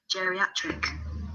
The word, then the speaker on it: geriatric: Geriatric.